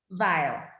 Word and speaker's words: Weyll: yeah we got vivian whale so if you guys don't wait how do you say your last name vile v vile okay it's like a german last name right i gotta get